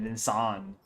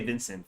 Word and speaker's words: Vincan: Say my name is Vincan. I I tried saying that my name is Vincan and then they will still say Vincent for some reason.